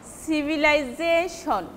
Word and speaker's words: civilization: And commonly any word formed with shon, suppose civilization, then the syllable before that shon will be stressed. Suppose civilization, that J will be stressed, civilization.